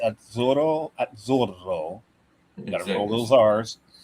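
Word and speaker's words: Azzurro: Italian pronunciation is weird. When you get two letters, you you pronounce the the letter at the end of the first syllable and then at the beginning of the next syllable. So, it's at zoro.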